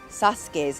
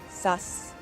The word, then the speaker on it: Sasuke: It's des which is why sasuke's name is sas, not sasuk. Easiest example. You're going to sound crazy incredible if you say sasuk.